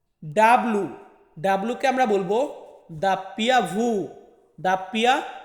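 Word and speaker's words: doppia vu: তারপর হচ্ছে ভি, এই ভি কে আমরা ইতালিয়ান ভাষাতে উচ্চারণ করব ভু। ডাব্লু, ডাব্লুকে আমরা বলবো দাপ্পিয়া ভু, দাপ্পিয়া ভু।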